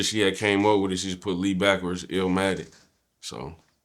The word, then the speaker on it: Eelmatic: of El Madden is it L or Ill ill ill like uh pronounce the same way you would pronounce like nas illmatic illatic got